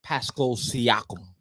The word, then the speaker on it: Pascal Siakam: Pronounce it. Say it. Pascal Siakam.